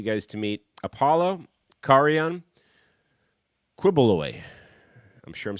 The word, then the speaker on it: Quiboloy: Quilly boy. Whenever I see his last name, I always think it says Quilly boy. Yeah, Quiboloy. It's Quiboloy.